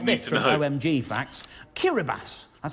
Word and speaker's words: Kiribati: Kiribati, that's how you pronounce it, is the only country that falls in all 4 hemispheres.